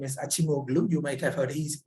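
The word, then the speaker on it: Acemoğlu: And especially two people, the Turkish economist Acemoglu and David Otter. The right way to pronounce the Turkish name is Acemoglu.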